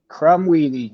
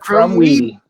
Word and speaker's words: Krumwiede: Krumwiede. Yep. Krumwiede.